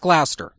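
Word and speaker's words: Gloucester: so it's probably Glouster just like it's Wooster but yes it is pronounced Glouster okay well Glouster it is then and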